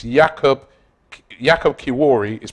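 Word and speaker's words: Kiwior: but it's Jacob Jacob kiwari is pronounced kivori there's W in Polish is a v love from Canada all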